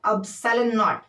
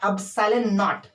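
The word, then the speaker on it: epsilon naught: 1/4 पाई एप्सिलॉन नॉट। इसको क्या पढ़ते हैं? प्रोनाउंसिएशन इसका क्या है? एप्सिलॉन नॉट।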